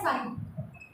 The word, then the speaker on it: psi: जो सिंबल है इसको बोला जाता है साइन, PSI, बट P is silent when we are speaking.